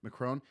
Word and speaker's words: Macron: Macron.